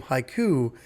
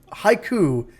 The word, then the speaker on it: HYCU: of syllables and so I said okay hiu is exactly haiku poem is exactly what we're trying to achieve it's the perfect metaphor